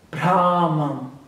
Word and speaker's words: Brahman: Eu até aprendi a pronúncia certa. Brahman.